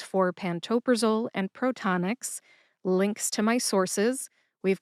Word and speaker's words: Protonix: Put all three syllables together and you get protonics. Emphasize ta. See if you can hear the emphasis when I say it again. Protonics.